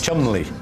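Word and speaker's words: Cholmondeley: it no but it might be richard what chumley are you pronouncing yes chun li trust me on this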